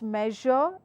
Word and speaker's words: measure: and it is pronounced the way I am pronouncing it. It's treasure, it's measure, it's pleasure.